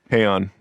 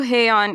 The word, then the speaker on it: Haon: Haon. Also Haon, and Andy told me it rhymes with crayon.